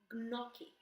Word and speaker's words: gnocchi: You just say gn. It's like you pronunciate them separately. GN, gn, gnocchi, right? Magnetic and significant. So you never have that new sound, okay?